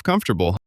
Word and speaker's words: comfortable: We talked about silent letters. Knife, no, rap, hour, Wednesday, comfortable. We talked about the th